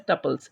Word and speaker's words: tuple: The rows of relations are referred to as tuples. It rhymes with couples.